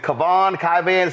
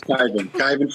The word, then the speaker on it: Kyvan: First off, is it Kavan? Pronounce it, please. It's Kyvan Foods.